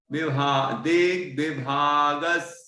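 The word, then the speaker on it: दिग्विभागस्: गंभीर तार रव पूरित देख विभागस, सा तक बोलना है, आधा सा है वो, देख विभागस, है ना? इस तरह हल्का सा सा का उच्चारण आएगा।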